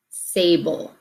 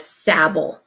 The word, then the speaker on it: sable: notice when we said that it's sable this is the long a okay so say bull sable okay so here we don't have a BB because if I had a BB I'd need to pronounce it as Sabol and that's not the right word Sabol with two bees would mean that that vowel should be a short vowel sound and so without the